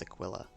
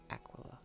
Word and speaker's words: Aquila: I keep wanting to pronounce it as Aquilla. Aquila.